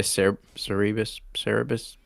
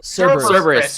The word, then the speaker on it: Cerberus: Saying it out loud is like Cerberus. Cerberus.